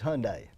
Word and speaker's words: Hyundai: It's Hyundai. That's what I thought. Yeah, that's the way we pronounce it.